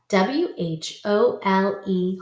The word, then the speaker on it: whole: w-h-o-s-e whose whole spell w-h-o-l-e whole remember this is like the whole pizza it's talking about the entire thing not the hole you dig in the ground the hole you dig in the ground is spelled like this same thing just without the w okay mr m r